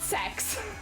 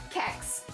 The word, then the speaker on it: CeX: in chat for you that's kex kex right meant to be pronounced sex apparently oh dear everything